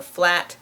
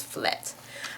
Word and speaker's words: flat: All of the ah sounds turn into eh. So flat becomes flet.